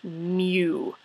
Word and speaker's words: mu: is pronounced M it's Mew um the same way that like if a little baby kitten you know Mew um the reason I